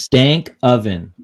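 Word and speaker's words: Stankoven: It's just Stank Oven. That's it. Stank Oven. That's exactly how it's spelled.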